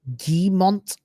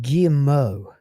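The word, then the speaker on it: Guillemot: of every single investment G Mo you don't pronounce T's in French at the ends of words with this deal it's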